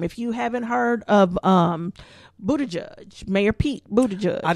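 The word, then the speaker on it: Buttigieg: to say that name Buddha judge I thought I thought Buddha juice like I'm like the first word looked like booty to me it was like the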